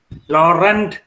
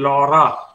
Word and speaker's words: Laurent: Laurent is not the correct pronunciation, Laura.